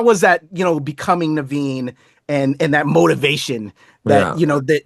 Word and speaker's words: Navin: And am I am I pronouncing it right? Is it Naveen or I'm not Naveen? Naveen. Naveen. Yeah.